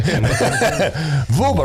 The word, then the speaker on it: Vuba: listeners worst time going vuba rhymes with tuba yes vuba vuba you